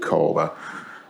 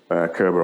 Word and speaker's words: Körber: If you're not sure how to pronounce it, it's pronounced Körber, even though everybody calls it Körber.